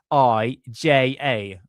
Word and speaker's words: Marija: There's an actual J in it, Maria Oršić. So there's a number, like 3 pronunciations of it. So the Maria, there's a J between the last letters of the A. So it's Maria. So Marija.